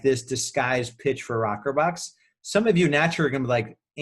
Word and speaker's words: ROKRBOX: So it's spelled a little weird, ROKRBOX. That's our branded phrase of it. But the real word is Rockerbox.